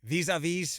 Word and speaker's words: Vis-a-Vis: Tell me if I pronounce this correctly. Vis-a-Vis Volume 2?